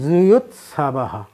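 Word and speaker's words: যুযুৎসবঃ: এইখানে বাংলা হিসাবে দেখা যাচ্ছে আমি উচ্চারণ করলাম জুয়ুৎসাবাহ। তাহলে এইখানে প্রথম অন্তস্থিজ জ পড়লাম, আর পরের অন্তস্থিজ জটাকে জ না পড়িয়া অন্তস্থ অ পড়লাম।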